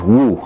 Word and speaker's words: Wu: She said her Chinese name was Wu. Wu? She said if you say it wrong, it means sanitation, so you must be careful with how you say it.